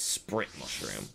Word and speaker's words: Split Mushroom: But he is like pronounced differently in the text. It's Sprit Mushroom. Because obviously L and R and L sounds in Japanese are sort of different sometimes.